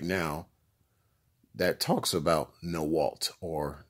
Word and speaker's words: NAWALT: women are like that in a W a l t are pronounced no Walt well pretty self-explanatory would